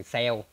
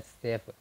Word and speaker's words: save: Anh em Việt Nam mình dùng từ sell nhưng mà đúng đọc đúng tiếng Anh của nó là save.